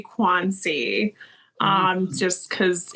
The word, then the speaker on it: Quanci: we are with Noelle quanchi Gia Lorenzo right yeah I was gonna say we we actually you pronounced it the Italian way um but we say quansi um just because it's